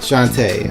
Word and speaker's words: Shantae: characters that were like shanty for instance or Shantae I prefer a protocol a shanty even though it is pronounced Shantae Sheva Nelson arrogant like that but